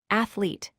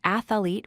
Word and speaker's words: athlete: It has 3 syllables, ath-lete. Many people incorrectly say ath-uh-lete with 4 syllables.